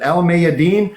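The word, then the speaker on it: Al Mayadeen: But El Mayadeen, excuse me, no, I don't. I talked to Nader on how to pronunciate it, and that's how he said to do it.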